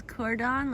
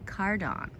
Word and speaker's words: Cardón: So I thought it was cordon, like cordon bleu. Yeah. But I think it's spelled A. Cardón.